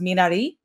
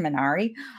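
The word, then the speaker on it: 미나리: i guess in print in korean it's pronounced minari for those of us who are american menari uh but it's all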